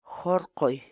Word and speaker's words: hurquy: série de vídeos onde nós ensinamos você a pronunciar determinadas palavras em Quechua. Portanto, a nossa palavra do dia para hoje é Jorqoy, jorqoy, jorqoy.